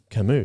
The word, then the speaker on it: Camus: What? Camus. Is that how you say it? Yeah. Oh, I apologise.